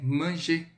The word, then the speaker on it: manger: Manger, parler, danser, fumer, d'accord? Esse R a gente não pronuncia, tá? Então você vai falar como se terminasse em com acento circunflexo, tá?